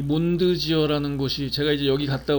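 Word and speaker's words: Mondsee: 몬드지어는 오스트리아 독일어를 쓰잖아요. 몬드는 이제 달이고 지어 또는 제, 몬드제라고 읽기도 하던데요.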